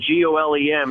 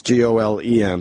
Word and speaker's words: Golem: Is it Gollum as in like the Tolkien Gollum, or is it Golem as in G-O-L-E-M as in the Jewish character? Goyim? It's, awkward. I think it's G-O-L-E-M, so how would you pronounce that?